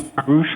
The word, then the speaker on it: Paurush: It's actually Parush, so it's spelled Paurush.